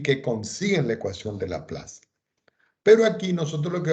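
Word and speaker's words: Laplace: la plaza la plaza pero se pronuncia la plaza es un matemático francés entonces aquí lo que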